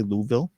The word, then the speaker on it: Louisville: Some will say Louisville, Kentucky. I hear that's the way you're supposed to pronounce it.